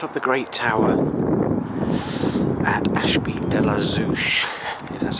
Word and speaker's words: Ashby de la Zouch: standing right out of the great tower at Ashby de la Zeus that's how you pronounce it near Leicester if you love Heights